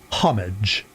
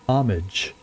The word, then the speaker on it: homage: He's paid much homage, as she says it. Is that more of a British pronunciation? To actually say the H? Because in my first inclination there is to say homage, but I guess the H technically should be said.